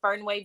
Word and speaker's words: Fernweh: IG is Fernweh BG.